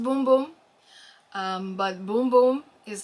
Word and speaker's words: Bum Bum: i've heard it pronounced bum bum and boom boom but they did say it is pronounced boom boom um but boom boom